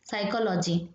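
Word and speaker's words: psychology: ये होता है नेट तो जी हो गया साइलेंट जैसे कि साइकोल वर्ड है ये स्टार्ट होता है पी से साइकोलॉजी ठीक है साइकोलॉजी ऐसे स्टार्ट होता है पी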